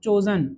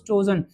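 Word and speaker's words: chosen: चूज चोज चोजन, second form में एन लग रहा है, ध्यान दो, सेकंड फॉर्म में चूज चोज चोजन, चूजन नहीं होता है।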